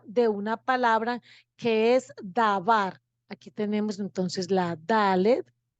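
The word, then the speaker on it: דָּבַר: La pronunciación, dabar.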